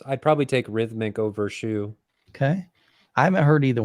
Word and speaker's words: Hsu: company called rhythmic and a company called shoe it's spelled Hsu so at least check